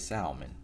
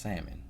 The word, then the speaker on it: salmon: now you know what they told me it is pronounced salmon see black people from the south we pronounce stuff the way it looked like a spell so for us is Salman but they told me it's pronounced salmon and